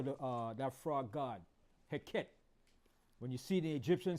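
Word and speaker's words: Heket: that frog god was was a god named heet I'mma spell it for you the fertility God all right heet is spelled h e k e t h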